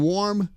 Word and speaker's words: warm: Well, the AR in warm sounds like OR.